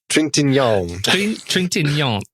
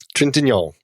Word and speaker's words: Trintignant: Trintignant. Trintignant.